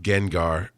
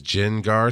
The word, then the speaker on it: Gengar: I can't how I see I know it's pronounced gengar but I see it as Jen gar sometimes so my first Gengar that I caught